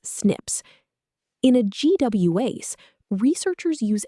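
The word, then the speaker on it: SNP: The tiny 0.1% differences are mostly single letter changes in our DNA code, called single nucleotide polymorphisms, pronounced as snips.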